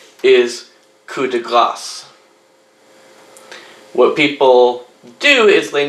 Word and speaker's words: coup de grâce: So, although the word is spelled Grace, they pronounce it as if it was spelled Gras, where the S would be silent, coup de grâce. You'll hear people say coup de grâce in English.